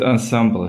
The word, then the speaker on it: ensemble: really change the presentation we call it Ensemble yes okay yeah that's it ensemble so we like to take the the French pronunciation so small science ensemble